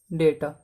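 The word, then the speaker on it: data: इसको लिख लो, sources is called डेटा। इसको कोई डाटा भी बोलता है, कोई कुछ भी बोलता है, वैसे डेटा बोलते हैं I think according to मी, जो सही प्रोनाउंसिएशन है इसकी।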